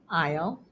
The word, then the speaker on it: aisle: And the last exception is that sometimes S is silent after the letter I. For example, the following words: debris, aisle, aisle again with a different spelling and meaning, island, Illinois.